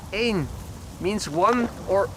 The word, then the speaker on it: één: Echo November, in Dutch pronounced één, means one or a.